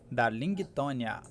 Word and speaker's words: Darlingtonia: Darlingtonia. Darlingtonia. Darlingtonia, a gente fala. Darlingtonia, a gente não pronuncia o G.